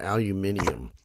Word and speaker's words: aluminium: I want to know why the British call that aluminium.